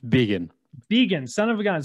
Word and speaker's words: Begin: sales and scale show today we have beggan is that right beggan that was the corrupted name it was it's really how do you pronounce it again it's vegan vegan son of a gun so we have